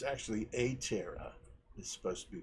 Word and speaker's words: Aptera: want to say i did a video on aptera or it's actually a terra is supposed to be pronounced which is the three-wheeled vehicle which i